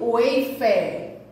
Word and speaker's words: wafer: também, é o biscoito wafer. Olha como é escrita do wafer. O wafer, W-A-F-E-R. Mas é tão diferente a escrita da pronúncia, não é? É isso mesmo, porque é em inglês.